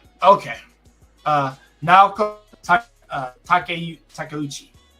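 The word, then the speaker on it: Takeuchi: I'm making sure I say it right cuz I know Japanese so I make sure I say it I say it correctly. Okay. Uh now Takuchi.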